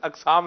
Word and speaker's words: اقسام: مختلف قسم یہ کی۔ بتائیں گے اقسام ہوتا ہے یا اقسام ہوتا ہے؟ دیکھیں جی، میرے تلفظ پہ تو اقسام چڑھا ہوا ہے، درست آپ بتا دیں۔ درست اقسام ہے ویسے، اقسام ہے، اسم کی جمع اقسام۔ ٹھیک ہے۔ دوسری بات یہ